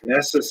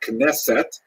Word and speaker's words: Knesset: The Knesset Hagadola, the Great Assembly. The name Knesset in modern Israeli pronunciation is, of course, the prime deliberating body